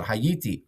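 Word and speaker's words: הייתי: the hya okay so t rhymes with me it's I or me okay so hayiti I was in the past tense so there.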